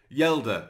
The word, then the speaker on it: Hjelde: of course Leo yela I believe it's yela not haa or haa or however I was pronouncing it in the last video he has said himself that he is uh it is Leo yeler so uh I'll have